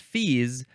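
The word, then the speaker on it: fils: fees it is pronounced fees but it is spelled f i LS so it looks like Phils but it's fees noun from uh 1786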